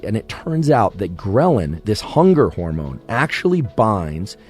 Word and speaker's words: ghrelin: in your body called ghrelin sometimes actually called greylin thanks for all of you grill anistas or ghrelinistas that corrected my pronunciation it's both ghrelin or grill and either one works ghrelin makes you hungry